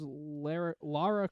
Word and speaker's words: Lara: It is Lara Croft, not Laura Croft.